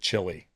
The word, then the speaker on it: Chile: you stopped getting annoyed that Americans called it chili? What do you say? Chili, Americans say chili. They don't say Yeah, Chile. Chile.